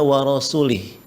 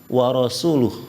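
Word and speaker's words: وَرَسُولُهُ: eh barahal musul ya Dia membacanya warasulih padahal yang benar War rasuluh ya Jadi kalau eh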